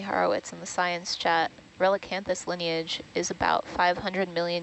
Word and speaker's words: Relicanthus: the genus name is relicanthus sorry uh so as in relic r-e-l-i-c anthis a-n-t-h-u-s all right and there